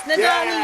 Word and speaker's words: Nadolny: Nadolny. Yes, Nadolny, you got it.